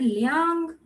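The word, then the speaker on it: liǎng: Liang, or you can pronounce it Liang. It goes up and down.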